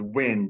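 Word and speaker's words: Nguyen: the last name is wind the the g is silent okay so spell that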